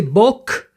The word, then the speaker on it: bok: So you can see that when I say bok, I don't pronounce the K explosive, and that's why it gets like a G instead of K, because I've heard people pronounce it that way.